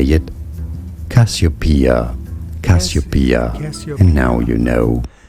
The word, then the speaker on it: Cassiopeia: Cassiopeia.